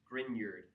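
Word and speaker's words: Grignard: It's actually pronounced more with a Y sound. Grineard.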